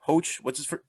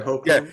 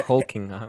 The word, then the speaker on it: Hoechlin: Hoach. Tyler Hoach, right? Tyler Hoechlin. Yeah. Hoechlin.